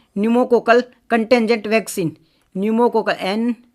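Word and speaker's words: pneumococcal: बात कर रहा हूं न्यूमो कोकल कंटेंजी की बात कर रहा हूं अब आप बोलोगे न्यू का पी कैसे तो पी से स्टार्ट होती है इस पहले इसकी स्पेलिंग तो P silent Numa Kokalla contingent vaccine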